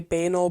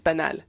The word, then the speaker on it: banal: beauty of regular day-to-day banal beauty or benol, how do Americans say it? Benol beauty. Um, banal, I think, is the way that Americans say it. In French, it's benal.